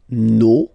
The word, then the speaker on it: nos: then leur, okay, so remember, even if you've got this final S, you don't pronounce it, as it was the case already for this word. No, you don't pronounce the final S.